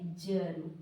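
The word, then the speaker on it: germ: तो जी से ज हुआ और यहां पे आ का कुछ नहीं करना है क्योंकि ज के साथ अ भी आती है। तो यहां पे ज हो गया। यहां पे एम से म लिख दिया। उसके बाद में आर से होती है जिसको कहां लगा दिए? माथे पे लगा दिए। तो जम हुआ।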